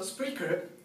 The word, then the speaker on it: Spreaker: So Spreaker, and it's spelled like speaker but with an R, is an online platform